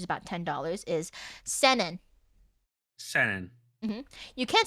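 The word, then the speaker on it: 千円: Senen.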